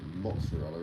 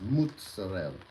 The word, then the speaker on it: mozzarella: a lot of you out there like to pronounce it mozzarella. It's not. It's mozzarella.